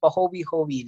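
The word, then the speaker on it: pahoehoe: We pronounce it as pahowi-howi lava.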